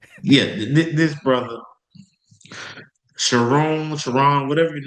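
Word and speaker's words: Sherrone: Shiron. Shiron Moore. My Michigan's coach, aren't you? Yeah. This brother, Chiron, Chiron, whatever your name is.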